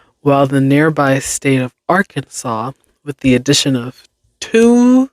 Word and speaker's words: Arkansas: only correct pronunciation of Arkansas. It should be pronounced in three syllables with the final S silent.